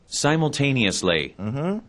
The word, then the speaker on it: simultaneously: simultaneously, Simultaneously. simultaneously, 이게 보통 우리가 simultaneously 혹은 simultaneously 그래서 영국식과 미국식 발음이 확연하게 많이 좀 차이가 나죠.